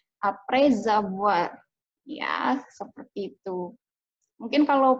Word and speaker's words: après avoir: Jadi kita bacanya bukan après avoir, tapi après avoir. Walaupun ada spasinya, tetap kita nyambung bacanya.